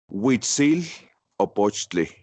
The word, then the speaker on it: Huitzilopochtli: How do you pronounce the full name again? Huitzilopochtli.